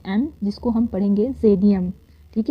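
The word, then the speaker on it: Xydium: लेट me clarify the spelling of एक्स वाई डी आई यू ए एम जिसको हम पढ़ेंगे जेडियम। ठीक है? जेडिएम का स्पेलिंग को क्लेरिफाई किया गया है।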